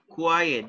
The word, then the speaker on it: quiet: Quiet. This is the pronunciation.